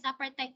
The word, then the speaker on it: apartheid: APARTHEID, ang pronunciation niya ay apartheid.